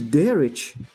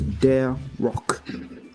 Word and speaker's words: Derich: Sawyer, it is Derich.